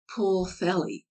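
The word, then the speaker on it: Pwllheli: Ellen Glenn Dever doughy the seemingly impossible puelli is rendered pulley Welsh place names are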